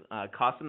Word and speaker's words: Kasim: today my name is Qasim it rhymes with awesome because my dad wanted